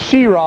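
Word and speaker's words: Cheraw: guys hey I'm glad I'm glad we said it right it's she raw I like to call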